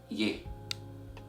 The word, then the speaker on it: ي: letter of Arabic is pronounce it as ye a bit after me yeah yeah is equivalent to the sound of the letter Y in English I think the word yellow and can also be equivalent